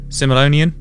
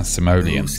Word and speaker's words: Simoleon: Simoleon. That's yes, not the Simoleon right pronunciation of it, though. Rico, come on, Rico. Yeah, that's not. It's Simoleon. Would you like to give us the correct? Yeah, Simoleon.